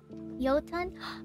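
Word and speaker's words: jötunn: it but i know it's giant is it jotun i know it's giant right i don't i don't know how to pronounce that word properly big tara hey tyranno how's it going yotan ah okay that makes sense uh yo yo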